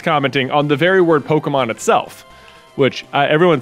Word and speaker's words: Pokémon: to say this pokemon i think the appropriate way is pokemon uh but every adult ever who has been too old for the game has said pokemon or pokeman is just like get